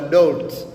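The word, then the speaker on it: dört: Namba nne utamkwa Dolt.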